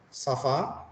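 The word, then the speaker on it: ça va: ini dibaca Om ya jadi ngomong Safa jadi D ada di bawahnya seperti ini garis itu seperti pembaca es ya jadi nah kemudian kalau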